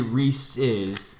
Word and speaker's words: Reese's: Oh, it's definitely Reese's. It's Reese's. It's Reese's. Definitely. It's not Reese's. They named it Reese's Pieces because it rhymes.